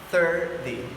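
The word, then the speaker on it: thirty: Now we use your tongue between your teeth to pronounce the 30. It's very easy. 30, 30, 30.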